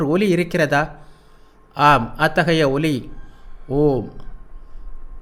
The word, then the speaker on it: ஓம்: plus உ plus ம் இதன் சரியான உச்சரிப்பு ஓம் என்பது அல்ல அ பாதி உ பாதிம் சேர்த்து ஒன்றாக உச்சரித்தால் வரும் ஒலி ஆகும் தமிழில் அந்த ஒலியை குறிக்க சரியான எழுத்து இல்லை எனவே ஓம் என்று அதை நாம் உச்சரிக்கிறோம் எல்லா ஒலிகளுக்கும் ஆதாரமாக உள்ளது